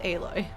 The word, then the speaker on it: Aloy: everyone loves a-loi and i know that it's pronounced aloy because my friends have talked about her a